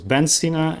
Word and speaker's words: Ibn Sina: They pronounced him as Ben Sina and then somehow transferred into Avicenna.